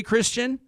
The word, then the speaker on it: Kristian: for having me am i pronouncing am i pronouncing your name okay christian yep okay this is okay are these these